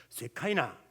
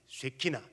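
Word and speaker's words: שְׁכִינָה: 세키나 그런 말을 씁니다 그 요거를 히브리어를 영어식으로 발음 해 가지고 스카이나 스카이나 영광 그러는데 원래 히브리 바르 세키나 주님께서 내 심령 속에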